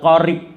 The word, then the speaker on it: qarib: Tapi jangan kalau di bahasa Arab kan itu sahabat qarib itu. Tapi lek rotok kepal setitik itu terus kasrohnya itu dibacanya rada imalah. Sahabat qarib gitu ya.